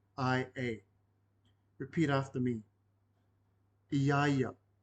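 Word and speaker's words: ia: we're focusing on the last word y this is spelled i a i a repeat after me Yaya Yaya translates again to him or her doesn't matter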